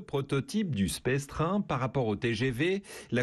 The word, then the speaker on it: Space Train: Leur projet, c'est le Space Train. Ça se prononce comme ça.